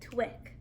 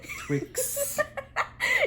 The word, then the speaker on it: Twix: look like a twix can you say that again european twig i'm sorry say it again twix european twix it's literally one of your favorite candies and you just said it wrong three times i want to try